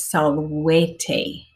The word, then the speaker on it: salvete: the Abecedarium, is that the V makes a W sound. Okay, so this word is salvete.